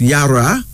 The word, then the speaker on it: Yara: was born in terms of prosperity and finally Yara Yara why a r o pronounced Yara this is from the HOSA people of West